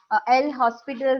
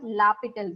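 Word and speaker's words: L'Hôpital: L hospital rule, or sometime it may be known as what? L'Hopital rule, right? So anyway, you can pronounce it.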